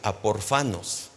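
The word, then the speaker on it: ἀπόρφανος: Pero Pablo utiliza un prefijo ahí, apo. Entonces la palabra de lo que está diciendo de separados se pronuncia aporfanos.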